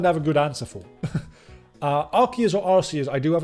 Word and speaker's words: Arceus: nobody says that, but it's also derived from the word Deus, so I pronounce it as Arceus, or Arceus.